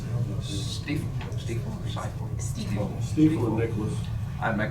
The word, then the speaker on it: Stiefel: How do you pronounce it? Stiefel or Stiefel? Stiefel.